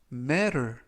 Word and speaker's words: matter: 뜻이 되겠습니다 2번 표현은 matter 이라고 발음하시면 되겠고요 이때 유의하 실점은 t 발음이 연음에 의해서 트가 아니라 르 르 그래서라고 발음하시면 좋겠고요